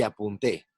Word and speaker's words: apunté: La sílaba tónica puede variar según el significado de la palabra. Por ejemplo, apunte y apunté. La primera es un sustantivo y se refiere a un escrito. La segunda es un verbo conjugado en primera persona del singular del pretérito.